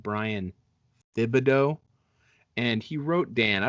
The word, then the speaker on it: Thibodeau: it's I mean, it's Brian Thibodeau.